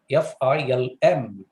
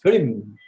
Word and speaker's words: film: very simple word f-i-l-m it's only film right it's a monosyllabic word it has only one syllable but throughout the presentation the resource person of course it's not his fault it's because of the mother tongue that he kept announcing this word is filming and if you go